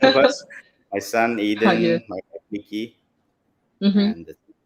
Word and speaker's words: Aiden: Aiden, my wife, Nikki, Mm-hmm. and yeah. Okay, it's And I pronounced guess, as Eden.